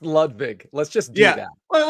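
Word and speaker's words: Ludvig: It's pronounced Ludwig.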